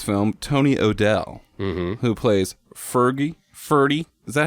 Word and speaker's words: Ferdy: And another star of this film, Tony O'Dell, who plays Ferdy. Is that how you pronounce his name?